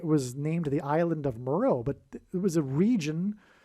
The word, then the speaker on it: Meroe: Moreau, which is spelled differently, but it sounds the exact same. And there is an ancient region of Kush, which is Ethiopia, named Island of Meroe.